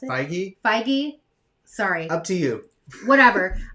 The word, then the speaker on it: Feige: at one of the panels they basically kevin feig feig fig how do i pronounce it feige sorry up to you whatever um he announced